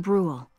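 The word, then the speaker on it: Bruhl: Chapter 2, Escape from Brawl. Chapter 2, Escape from Brule. I just said that, although I mispronounced Brawl.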